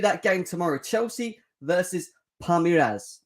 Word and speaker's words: Palmeiras: game tomorrow chelsea versus palmyras i always get it wrong because i can't pronounce it probably but palmyras palmieres that's it yeah palmyras we're going to